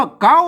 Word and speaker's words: เก๊า: แค่ นี้ อาจ จะ อ่าน ว่า เขา นะ ครับ ไม่ ใช่ ครับ มา ตัว ค ควาย เนี่ย มัน ยืม เอา มา เป็น ตัว กล้า นี่ นะ ครับ อ่าน ว่า เก๊า นะ ครับ มา นอก จาก